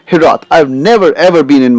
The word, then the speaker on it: hiraeth: So the continuing the journey of the beautiful word, this word which we have pulled up here is called hirath. Hirath. The pronunciation of this word has got different origins,